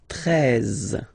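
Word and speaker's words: treize: Then now if you combine this E and E, you get the sound E, really open, 13, 13, final E, as usual, not pronounced, 13, 13, okay?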